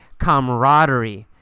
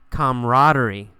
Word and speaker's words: camaraderie: the word camaraderie camaraderie you really don't pronounce that second a we usually say camaraderie camaraderie camaraderie is a feeling